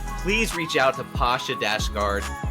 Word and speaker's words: Dashtgard: reach out to Pasha dasg guard p a ha a d a s h t the t is silent g a r d